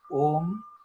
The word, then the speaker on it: Om: Because Om consists of three words, A, U, and Ma in Hindi. When we start pronouncing Om, when we start with O, it starts from the belly, then it comes to the vocal part, and when we say Ma, it ends with there.